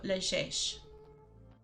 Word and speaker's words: llegeix: The X is an S. And it's a soft G. So, llegeix.